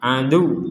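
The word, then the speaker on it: عَدُوّ: Nah, diperhatikan di sini ada waw, di atasnya ada tanda tasydid, maka kita berhenti di sini. Misalkan kita tidak kuat berhenti, dan ini harus ada ditekan, ada tekanan. Li ba'din adu, li ba'din adu, adu seperti itu. Tidak sekedar adu.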